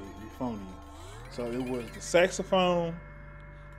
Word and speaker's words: euphonium: Yeah, that's how you say it, euphonium.